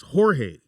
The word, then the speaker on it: Jorge: Spanish threw me off because it was Jorge All right. spelled with the J, but it's pronounced with an H.